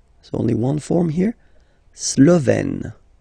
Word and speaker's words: Slovène: La Slovénie, so only one form here, Slovène, Slovène. Remember, E accent grave, you open it, Slovène. La Hongrie, Hongrois, Hongroise.